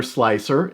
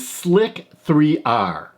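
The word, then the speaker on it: Slic3r: Another popular slicer is Slic 3R. And some people just pronounce it as slicer, but it's SLIC 3R.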